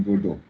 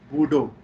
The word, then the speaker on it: Bordeaux: I'm in Bordeaux. Bordeaux. Bordeaux. They call it Bordeaux. Bordeaux. Bordeaux. Bordeaux. X is silent.